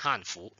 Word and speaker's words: Hanfu: Y ten cuidado con el tono, con la pronunciación, porque para los coreanos usamos Hanfu, es el segundo tono, ten cuidado. Si es el cuarto tono, sería Hanfu, son los chinos, y Hanfu son los coreanos para.